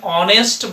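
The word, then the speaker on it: honest: অন্যদিকে আমরা যদি বলি যে হি ইজ অ্যান অনেস্ট বয়, এইচ এর উচ্চারণটা এই জায়গায় উচ্চারিত না হওয়ার দরুন আমরা এন না বসিয়ে আমরা এন বসাচ্ছি।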